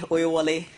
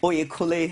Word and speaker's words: Oyekunle: Emi Oyewole, executive. Oyekunle. I beg your pardon.